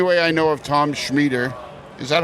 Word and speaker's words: Schmieder: And the only way I know of Tom Schmieder, is that how you say it?